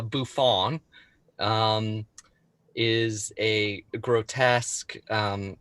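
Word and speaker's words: bouffon: is a bouffant and is that how you say it well yeah like uh buffon um is a grotesque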